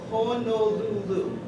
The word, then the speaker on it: Honolulu: This is the airport that you fly into, and it's Honolulu. Everybody say Honolulu.